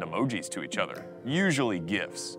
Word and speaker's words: GIF: to each other usually gifs it's pronounced gif okay just stop so